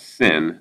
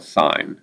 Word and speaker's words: sine: next couple weeks, but this is not sin. This is, we call it sine. I know it's spelled sin, but for this math class, every time you see that, it's just sine.